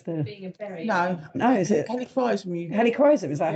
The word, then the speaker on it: helichrysum: Is is it the same plant, but it's the no, is it helichrysum? Helichrysum, is that how you pronounce it?